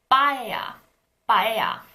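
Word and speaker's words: paella: all let's look at the Spanish dish bhaiya it starts with a pea but it's not an aspirated P we don't say pea if we try all three bilabial stops in Korean it's not pie it's not pie but it's byah byah the second and last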